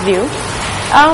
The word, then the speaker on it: VU: And it's pronounced as View.